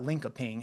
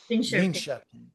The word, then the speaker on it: Linköping: It's not Linkoping. How do you pronounce it? Linköping.